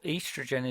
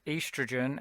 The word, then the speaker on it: estrogen: of the spelling uh estrogen is uh probably better in your mind pronounced earth's region because that's literally what it says and maybe that will help you say bit of a scottish accent sometimes helps with that as well um okay estrogen and